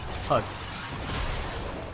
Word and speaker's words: HUD: Do I pronounce it HUD or HUD spelled out? HUD. Just HUD. I treat it as an acronym, not an initialism.